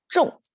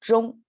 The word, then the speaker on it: 中: Okay, normally this pronounced as 中, but when it becomes an action verb, it is 中, like right on point, spot on, right? It becomes 中. The pronunciation gets a falling tone instead of 中, the flat tone, the first one.